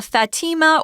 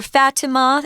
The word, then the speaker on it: Fatima: so we've got uh fatima or fatima it's pronounced both ways it depends on what country you live in so the next topic